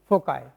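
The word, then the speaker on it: foci: कुछ लोग गलत भी प्रोनाउंस करते हैं, इसको बोलते हैं फोकी। इट्स नॉट फोकी, इट इज फोकाई।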